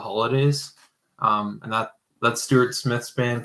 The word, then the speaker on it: Holodais: I think it's like Holidays. It's spelled funny. It's HOLODAIS, kind of like hollandaise sauce.